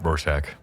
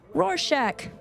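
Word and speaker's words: Rorschach: what's that test is a roar shark is that how you say it Ro shark Roar Shack Roar Shack you can say it better than me I've seen the Watchmen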